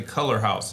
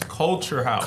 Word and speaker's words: Culxr House: It's not color. I've heard people say Color House. It's Culxr House.